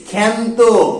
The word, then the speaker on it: ক্ষান্ত: ক্ষীয় যদি কখনো আ কে নেয়, আ যুক্ত হয়, তখন তার উচ্চারণ কিন্তু এ উচ্চারিত হয়ে যায়, এ। যেমন ক্ষীয় আকার নয়, তো এর উচ্চারণ আমরা কি করি? ক্ষান্ত, ক্ষান্ত বুড়ি দিদি শাশুড়ি।